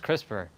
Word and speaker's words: CRISPR: It's like crisp R. But I'm sure if you say it fast enough, it's CRISPR. Yeah, like that. Exactly. So I'm sure it's still... Yeah, so I'm sure it's still pronounced CRISPR, even though it has no E at the end. Because that R is R.